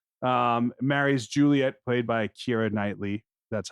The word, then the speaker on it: Keira Knightley: eor yeah yeah um marri's Juliet played by Kira nightly that's how you pronounce her name that is and Mark is